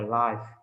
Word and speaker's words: life: Đấy, thêm s vô á, với lại nó biến thành danh từ á, thì đọc là life chứ không phải là live nha.